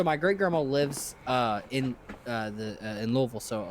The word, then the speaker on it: Louisville: if you're from there, you say it like it's in the back of your throat.